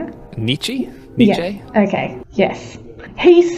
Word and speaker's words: Nietzsche: Nietzsche?